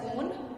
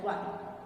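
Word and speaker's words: -one: Pronounce it as on, write it as one. One लिखते हैं लेकिन प्रोनाउंसिएशन से क्या होगा, on.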